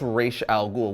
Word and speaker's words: Ra's al Ghul: are always arguing about how you pronounce Raza G's name is it razal ghoul or is it R Al ghoul well if you want to go by the great Batman Raider paulini it's R Al ghoul which he made known